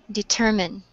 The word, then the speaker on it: determine: Determine. Where is the stress? Uh, in the second E.